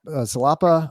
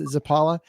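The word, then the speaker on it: Zapała: Michigan State Shimon salop zapa or zapala and I was so worried about getting his first name wrong wrong that I totally botched his last name so it's zapala I apologize I'm turning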